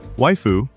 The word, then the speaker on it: waifu: Waifu rhymes with skyu is otaku slang for a fictional woman.